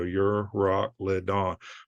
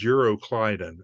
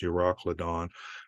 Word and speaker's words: Euroclydon: nor'easter and the Mediterranean the official pronunciation is four syllables the EU your rock Roc l-y-d-o-n so your rock lead on but most people refer to it as eurocliding and I think they